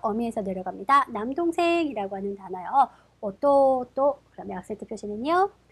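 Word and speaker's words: 弟: 야스미라고 읽고요. 악센트 표시는 야스미, 야스미가 됩니다. 자, 계속해서 어미에서 내려갑니다. 남동생이라고 하는 단어요. 오또또, 그러면 악센트 표시는요. 오또또, 오또또가 됩니다.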